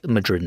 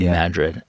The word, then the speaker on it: Madrid: Coast um sensibility accent by pronouncing it like Madrid Spain but pronounced Madrid um do you yeah do you that's well